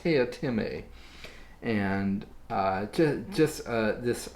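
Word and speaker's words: Teatime: you're reading the book and you're wanting to pronounce it tea time you're not alone because throughout the book he's constantly having to remind people that it's pronounced tia tieme so everybody else apparently wants to call him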